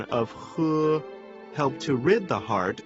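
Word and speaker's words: 呵: The pronunciation of he, similar to the English word her, the pronunciation is assisted by the tongue. When exhaling to pronounce this word, pull the tongue back slightly and slowly exhale air from between the tongue and the upper jaw.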